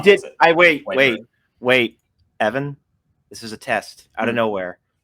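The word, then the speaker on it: Wyper: It was Whipper. Yeah. So you could just pronounce it as Wiper.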